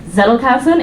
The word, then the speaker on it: Zettelkasten: I believe this is pronounced Zettelkasten, if I botch it. Okay, I actually got that right.